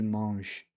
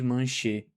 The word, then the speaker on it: manche: sonzinho do e de manche. A gente não fala suicê nem de manchê. Por isso que a gente considera que não se pronuncia ele no final da palavra.